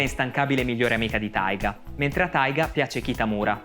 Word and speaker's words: Taiga: Taiga è come i giapponesi pronunciano tiger, mentre Ryu di Ryuji significa drago.